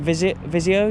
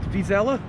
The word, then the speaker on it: Vizela: Is it Visio you're playing? How do you say the name of the team? Against Vizela.